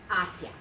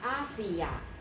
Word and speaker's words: hacia: It is not, this is not a three-syllable word. This is not hacia. Okay, this is a two-syllable word because this is a diphthong.